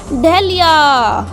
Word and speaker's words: dahlia: अगला फ्लावर है डहलिया। डहलिया यानी स्पेलिंग देखिए, DAHLIA, डहलिया।